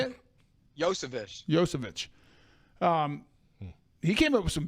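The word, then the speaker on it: Iosivas: I'm not even going to try to pronounce his name, but he was... Yosevich. How do you say it? Yosevich.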